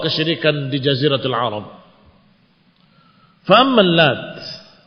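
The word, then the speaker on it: اللات: Faammal lat. Adapun lat faqar al jumhur bitakhfif ta. Jumhur para qura yang meriwayatkan bacaan-bacaan Al-Qur'an membacanya dengan takfif tanpa tasdid ta.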